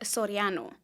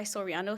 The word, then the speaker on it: Soriano: last name well it's supposed to be said Sorano but you know here in West Texas we just go by Sorano so it you pronounced it well so it